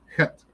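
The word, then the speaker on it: ח: Let's move on to het. Het is a CH, but it's a CH that's swallowed in the back of your throat, and I pronounce it like a Yankee.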